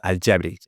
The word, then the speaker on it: Al Jabri: Al Jabri. Okay. I know J is silent usually in Spanish, so it's okay.